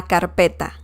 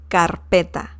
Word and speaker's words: carpeta: binder in spanish la carpeta la carpeta it sounds like you're saying carpet but you're saying binder la carpeta okay so